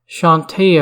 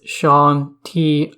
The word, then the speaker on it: Chauntea: is just me but I always pronounced Shante ohh Shante we're in fact the proper pronunciation is Sean T up don't be surprised if